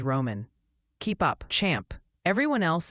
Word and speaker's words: Roane: Boerne, Texas is Bernie, Meigs County, Tennessee is Megs, and Roane County, Tennessee is Roman.